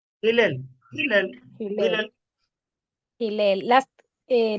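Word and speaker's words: Hillel: Hil, ¿cómo se dice propia ahí? Hilel.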